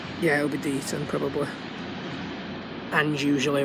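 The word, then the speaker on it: Deighton: Looks like it is, well, according to Anne, it's pronounced Deaton. Yeah, it'll be Deaton probably.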